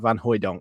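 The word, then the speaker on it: van Hooijdonk: I've got to get used to saying that van hoyon there we go so uh we're gonna start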